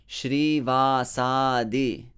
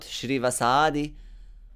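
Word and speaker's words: Śrīvāsādi: srivasadhi beginning with srivasa so srivasadhi notice how many long vowels is there three long vowels and you need to really uh emphasize them all three of them srivasadhi not shrivasadhi not srivasadhi put an emphasis on each of them so that gora is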